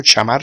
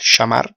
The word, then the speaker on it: chamar: Fijémonos también que suena como lo pronuncian los argentinos, ¿no? Shamar, shamar. Y me shamo, ¿eh?